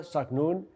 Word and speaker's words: Zaknoune: today a special guest her name is Sonia sagnun she is the founder of Casa consultancy Sonja